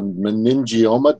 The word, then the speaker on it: meningioma: A meningioma?